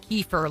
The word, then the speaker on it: kefir: And organizers estimated that over 6,000 pounds of the fermented milk drink, we always call it kefir, like Kiefer Sutherland. Yeah. That's probably not how it's pronounced, but who Probably knows?